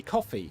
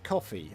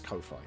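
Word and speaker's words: Ko-fi: I also have a I should probably start pronouncing this correctly. Coffee coffee. I don't know why I still pronounce this Kofi.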